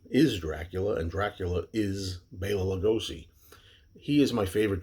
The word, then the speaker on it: Bela: i'll always call lugosi baylor i don't say bella and i've always grown up saying bella that's the way it is and over the years i've learned that the correct pronunciation is bayla so you'll hear me say bayla well what